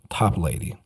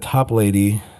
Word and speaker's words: Toplady: It's 2 words, top and lady, Toplady.